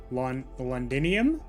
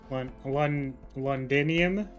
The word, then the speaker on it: Londinium: what about London minion londinium I think is how you read it yeah but guys I'm pretty sure it's pronounced London minium you guys don't see the